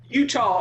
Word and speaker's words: Eutaw: To start the conversation for this, Utah is spelled EUTAW here, by the way. Utah, Mississippi.